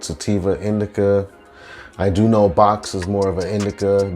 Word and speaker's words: Boax: new to hamp flower if you see the strain bo axe it's pronounced box and then i got